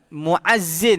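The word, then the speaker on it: مؤذن: Muazzin bukan tuan-tuan, muazzin ni tuan-tuan perlu tahu, dia bukan muazzin azan tu. Itu dengan hamzah, muazzin. Mim, hamzah, Hamzah di atas waw, zal dan nun. Muazzin itu orang yang azan. Kalau muazzin, ain, mim ain zai,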